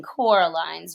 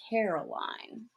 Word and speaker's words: Coraline: see Coraline Miss said getting Coraline's name wrongs by saying Caroline both myself and Miss